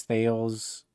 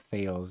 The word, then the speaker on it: Thales: Thales is called like the father of science and everything. You can look up Thales. It's Thales. I just say Thales because that's how it's spelled, but it's Thales, Thales.